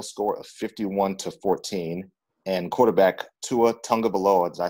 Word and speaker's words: Tua Tagovailoa: But I am aware that the Alabama Crimson Tide beat Louisville by a final score of 51-14, and quarterback Tua Tagovailoa, did I say it right, Jeremy?